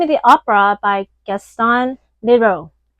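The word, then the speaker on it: Leroux: the Opera by Gaston Lero. I don't know if I'm pronouncing his French last name accurately, but his last name is L E R O U. So, Lero, yeah, maybe you can help me out here.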